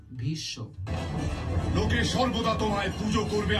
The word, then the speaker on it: Bhishma: Also take the example of Bhishma in Hindi. This is pronounced as Bhisho.